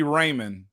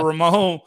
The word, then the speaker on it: Ramon: do it all wrong if they're calling me Raymond instead of instead of Ramon they're just there on